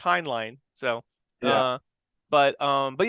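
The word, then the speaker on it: Heinlein: line um like I always thought it was heinlin but it's pronounced hin line so uh but um but yeah as far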